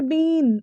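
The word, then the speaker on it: been: और आई वी you they के साथ हैव बिन लगा, वही सेम है, आई वी यू दे के साथ ना हैव लगता है, तो हैव के साथ यहाँ बिन लग रहा है, बिन, इट्स नॉट बीन, इट्स बिन।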